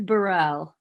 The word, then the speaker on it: Barrell: And actually sometimes I say it Barrel when I'm trying to spell it for people because it's just so much easier. But it is Barrel.